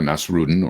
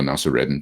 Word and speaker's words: Nasreddin: These come from the incredible exploits of Mullah Nasruddin, or Mullah Nasreddin, depending on how you say his name.